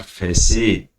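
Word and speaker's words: facet: These विर्च्यूज, जो ये गुण हैं, आर फैसेट, टी साइलेंट रहता है दोस्तों इसमें, ये सब उसके चेहरे हैं ऑफ वन सेंस, ये वन सेंस के चेहरे।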